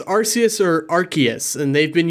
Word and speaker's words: Arceus: recently yeah but um i say arceus because that's just what i knew for so long but i guess they changed it from arceus to arceus because arse is ass in